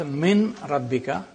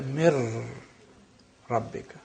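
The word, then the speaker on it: مِن رَبِّكَ: So you don't pronounce min rabbika, you say mir rabbika.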